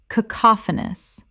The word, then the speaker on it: cacophonous: Correct pronunciation, cacophonous. Four syllables with the stress on the second.